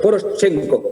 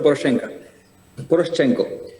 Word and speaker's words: Poroshenko: Poroshenko, lo conocen ustedes, pero se pronuncia Poroshenko.